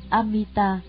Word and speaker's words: Amita: Chữ A-di-đà là tiếng Phạn Brahma ở Ấn Độ, nguyên âm đọc là Amita, dịch nghĩa ra chữ